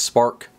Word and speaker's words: SPRK: The Eureka SPRK Plus, which I believe is just pronounced Spark.